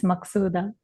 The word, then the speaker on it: Maksuda: Yes, that's how you pronounce my name. It's Maksuda.